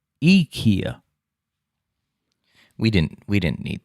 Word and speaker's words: IKEA: i instead rather pronouncing the word with the e instead of an eye is the correct way to say ikea in swedish mind blown but that's